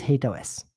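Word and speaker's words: HATEOAS: So first of all, what is HateOS? And by the way, I pronounce it HateOS. I've heard it pronounced in other ways as well. I just personally gravitate towards HateOS.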